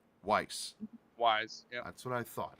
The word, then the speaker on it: Weis: And it's pronounced Weiss. Wise, yeah.